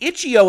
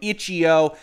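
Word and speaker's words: itch.io: is perhaps a surprising image it is the ichio announcement that they are going to be available in the epic game store now before anybody complains about my pronunciation of ichio i want to refer back to a tweet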